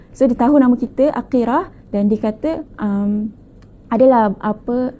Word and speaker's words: Aqirah: aqirah aqirah aqirah boleh Panggil akirah ataupun mana-mana sahaja bermaksud Mulia ataupun